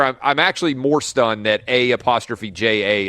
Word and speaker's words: A'ja: actually more stunned that a ' J a is pronounced aja then I am by